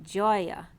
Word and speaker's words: Gaia: so ga a ea but again with a soft G Joya and Uranus is coming